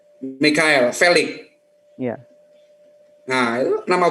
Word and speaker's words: Michelle: Michelle bacanya Michelle kah Mikael? Mikael Felix.